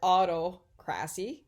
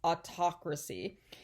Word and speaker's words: autocracy: of government and so you see the word autocracy okay that's not how you pronounce it it's pronounced autocracy and you know that it has to do